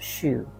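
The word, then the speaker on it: shu: Anytime throughout this practice, you can use the healing sound of wood, which is S-H-U, kind of pronounced shoo.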